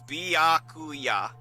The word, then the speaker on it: Byakuya: It does have a lot of syllables. It's Byakuya.